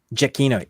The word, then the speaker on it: Giacchino: Giacchino.